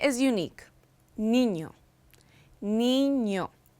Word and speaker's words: niño: Niño, niño.